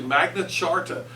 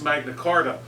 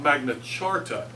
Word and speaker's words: Magna Carta: say it is actually magnet charta even though it's spelled with just a c not a CH but I don't I don't pronounce it that way um because everybody pretty much says Magna Carta but uh if you